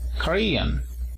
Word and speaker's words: Korean: Para decir coreano, también nos fijamos en estos símbolos IPA. Korean. Tenemos el acento en a partir de la segunda sílaba.